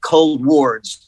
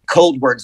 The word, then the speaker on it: ColdWards: decided to pronounce it cold words like talk like emotion like forwards like towards okay like emotion emotion